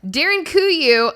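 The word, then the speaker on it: Derinkuyu: in turkey this is the darin kuyu underground city congratulations on that pronunciation that was a great time darren kuyu i would have messed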